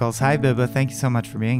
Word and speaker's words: Biba: I'm here with Biba.